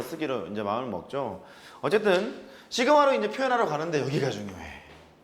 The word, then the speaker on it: 시그마: 시그마라고 읽고요. S의 그리스 소문자는 이렇게 씁니다. 똑같이 시그마라고 읽어요.